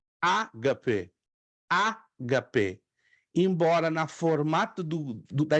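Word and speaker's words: ἀγάπη: Ó, ágape, ágape, não HP. Ó, porque eu estou entonando, estou dando a entonação na primeira sílaba, concordam? Ó, ágape, ágape.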